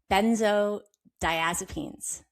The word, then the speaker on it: benzodiazepines: understand and that is and I have trouble pronouncing it benzo so benzo diazepines.